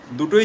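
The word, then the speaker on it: the: you both R correct so afternoon R evening দুটোই যেহেতু vowel sound তাই এর আগে টি এইচ ই এর উচ্চারণ দিয় দ্যা নয় তাহলে কি বলবো আই উইল কল ইউ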